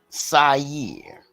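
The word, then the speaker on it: שעיר: How do you say goat in Hebrew? Sair. That's how you say it. Yeah, or Sair, like a Shaggy, a he-goat.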